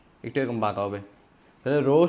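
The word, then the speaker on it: rho: একটু এরকম বাকা হবে রো সমান এটা কি রো রো সমান এমবাভি ঘনত্ব রো সমান কি রোর এভাবে উচ্চারণ রো ঘনত্ব রো সমান এমবাবি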